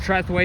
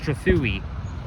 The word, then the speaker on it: Trethewey: And it's not pronounced Trethewey, it's pronounced Trethewey.